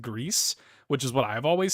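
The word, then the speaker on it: Gris: so I pronounce it Greece right that's how you pronounce it in Spanish now re or without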